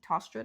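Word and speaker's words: Tostrud: Tostred, I believe is how you say it.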